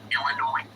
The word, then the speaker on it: Illinois: Illinois. You know what's annoying? People who say Illinois. It's you don't pronounce the S.